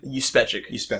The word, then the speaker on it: Juspeczyk: Juspeczyk. Oh, that's how the motion comic pronounces it, which it sounds plausible. Yeah, it's spelled with a J, pronounced with a Y.